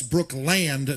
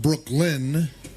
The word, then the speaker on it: Brookland: That's Brookland, not Brooklyn. You got to pronunciate it.